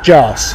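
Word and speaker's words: Jarce: Jars. How do you spell that?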